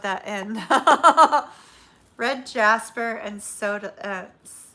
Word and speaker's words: Sodalite: Red jasper and Sodalite, right? Isn't that the way you pronounce it? Sodalite, yeah.